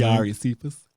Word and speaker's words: Kiari Cephas: Belcalis Armanzar and Kari Cephas, I don't know how to say his name. Kiari Cephas. Kiari Cephas. That's his name.